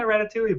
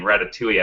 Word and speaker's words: Ratatouille: just people know it and people oh yeah Ratatouille but a lot of people said ratat toille